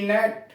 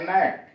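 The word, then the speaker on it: gnat: GN80 नेट, GN80 पढ़ते हैं नेट, लड़ाकू विमान, इसमें जी साइलेंट है।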